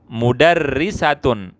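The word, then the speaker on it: مُدَرِّسَةٌ: Mudarrisatun, mudarrisatun ini dibacanya ri. Karena apa? Di bawah tasdid. Yang ini ya. Ini di bawah tasdid, harokatnya di bawah, berarti bacanya kasroh.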